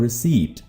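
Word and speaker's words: receipt: रसीद की इंग्लिश रसीद वर्ड से मिलती जुलती है, जो कि है रिसीट। इसमें पी प्रोनाउंस नहीं होता, पी साइलेंट है, राइट?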